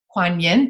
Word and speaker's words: Kwan Yin: say her name Queen Don come on Yin Kwan Yin thank you very much you had mentioned you've